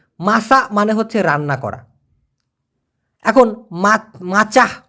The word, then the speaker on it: masak: দেখুন, একবার জিজ্ঞাসা করেছে যে মাসা মানে হচ্ছে রান্না করা। এখন মাচাহ মানে সময় না, এখানে মাসা, মাসা মাসা, হ্যাঁ, থাকবে না। কিন্তু মাসি মানে কি?